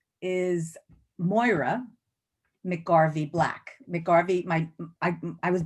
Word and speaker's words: Moira: And so people mispronounce it. They think it's French, like Moira or Moira. It's always ruined.